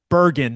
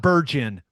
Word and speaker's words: Bergen: Yes, Bergen. BN. Bergen. Not Burgon. Bergen. Hard G. Right.